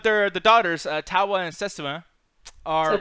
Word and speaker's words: Setsuna: But they're the daughters, Tawa and Setsuna, are. Setsuna. What? I thought I said that shit right. Come on now. You were close. Setsuna.